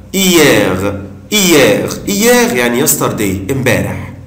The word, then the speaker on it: hier: Hier, hier, hier, hier, يعني yesterday, امبارح, بالامس. طبعا, ici je ne prononce pas la lettre H, مش بنطق حرف ال H, بنطق كلمة hier, hier, hier, امبارح.